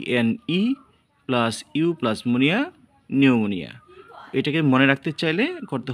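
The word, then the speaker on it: pneumonia: ইউ এম ও এন আই নিউমোনিয়া অর্থ হচ্ছে নিউমোনিয়া বা ফুসফুস প্রধান রোগ। নোট পি এনই প্লাস ইউ তুমি plus Muniya. P এনই plus you plus Muniya নিউমোনিয়া।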